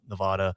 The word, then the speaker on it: Nevada: It's Nevada. Las Vegas or Las Vegas? It's 'Cause Nevada. It's a Spanish word, and there is no sound in Spanish.